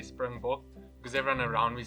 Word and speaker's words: springbok: So there's the English version, which is springbuck. There's the Afrikaans version, which is springbok. But a lot of people say the Afrikaans version with English pronunciation, so they say springbok.